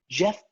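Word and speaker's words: Geoff: there a guy still is his name jeff doug moore or jeff um but it's spelled jeff j-e-o-f-f i'm not sure is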